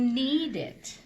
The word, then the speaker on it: knead: You can knead it. No, you knead it. So the K is silent? It's kind of like a knee. Knee is spelled K-N-E-E. Oh, so the K is silent.